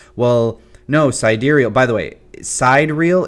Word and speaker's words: sidereal: And if you're somebody who's sitting there like, well, no, cidurial, by the way, sidereal. It's not pronounced cider.